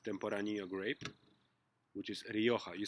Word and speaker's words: Rioja: wine made with tempura Nia grape which is Rioja you spell it are i oj and you you can